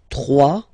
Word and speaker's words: trois: Trois, final s not pronounced, trois.